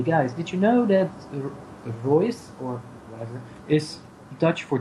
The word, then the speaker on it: Reus: Reus. Reus. That's kind of like how I would say it if I pronounced it in a French accent, so I can deal with that.